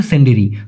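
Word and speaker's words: sendiri: উনার প্রথম প্রশ্ন ছিল সিন্ডেরি। দ্বিতীয়টা হল মিষ্টি। ভাই সঠিক উচ্চারণটা হবে সন্ডেরি।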